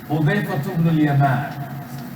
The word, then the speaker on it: Hudayfa ibn al-Yaman: Hudayfa ibn al-Yaman.